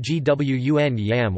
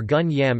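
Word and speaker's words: 觀音: The name is pronounced Gwun Yam or Gun Yam in Cantonese Chinese, also written as Kun Yam in Hong Kong or Kun Iam in Macau.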